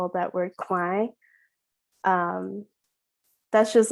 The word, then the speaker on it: Khmer: And I think why I said it Khmer and Khmer in the play is just to highlight that experience even more of, oh, it can be pronounced this way, but this is how an American lens would view that word.